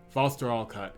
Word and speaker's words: Vhastoralkat: There's probably a way to um let's see how the uh foster all cut. Yeah. So it's um you don't pronounce the H.